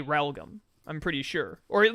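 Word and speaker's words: Realgam: garden r-e-a-l-g-a-m it's like it's like real gam but it's pronounced religam huh that's how it's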